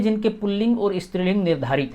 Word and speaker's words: पुल्लिंग: स्त्रीलिंग एक बात और बहुत सारे लोग इसका उच्चारण पूर्व लिंग करते हैं जो कि शुद्ध है भाषा के विद्यार्थियों के नाते आप यह ध्यान रखें कि पूर्व लिंग कहीं भी नहीं है रेखा उच्चारण जब है ही नहीं तो क्यों किया जाए इसलिए पुलिंग है यह और दूसरा है